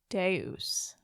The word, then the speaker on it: Deus: Well, thank you for taking the journey with me into the land of Deus, which I can't wait to return to. Yes. Thank you for showing me Deus.